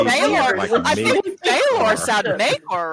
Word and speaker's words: Maekar: George just puts an AE in every Targaryen name. And it could be any vowel.